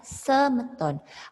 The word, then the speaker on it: sameton: Kalau di bahasa Bali, akhiran itu kan selalu E. Misalnya, mangda, jadi mangde. Nah, sameton, dibaca semeton. Awalan dibaca E, akhiran dibaca E.